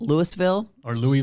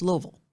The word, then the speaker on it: Louisville: Just kind of like if you're from Louisville, Kentucky, people outside of Louisville call it Louisville. Or Louisville. No, it's Louisville. Louisville. That's how you say it.